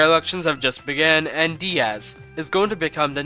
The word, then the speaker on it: Diaz: Also, I got bullied by my comments that DIAZ is actually pronounced Diaz, so I guess I'll be using that pronunciation from now on.